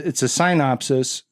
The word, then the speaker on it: SeinOpsis: The idea behind this segment is that we're going to, it's a SeinOpsis that you might just think we're mispronouncing synopsis, but we're not. It's a SeinOpsis like Seinfeld.